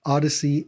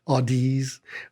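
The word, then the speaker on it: Audeze: um by the way it's odyssey a-u-d-e-z as opposed to audis or a variety of other pronunciations it's a play on thank you on on odyssey the word you you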